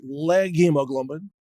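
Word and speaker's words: leghemoglobin: legume version of hemoglobin, which is pronounced something like leg hemoglobin.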